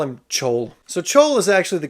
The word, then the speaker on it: Chaol: They're also traveling with this guy who spells his name Chaol and they pronounce it Kaol.